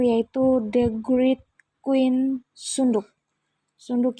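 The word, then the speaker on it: Seondeok: Sunduk ya bacanya, atau bacanya biasa Seondoek.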